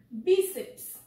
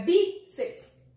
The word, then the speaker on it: bíceps: Bíceps. Escreve assim? Será? Olha aqui. Vamos ver qual é a sílaba tônica.